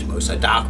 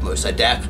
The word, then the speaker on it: Mossadegh: And so his name, Mohammed Mossadegh, the way I will pronounce it, Mossadegh, Mossadegh, Mossadegh.